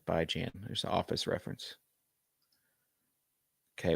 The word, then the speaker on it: Bijan: It's pronounced Bijan. All right, Bijan.